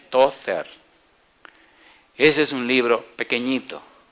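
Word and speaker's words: Tozer: y el apellido se escribe T-O-Z-E-R. En español se leería Tother.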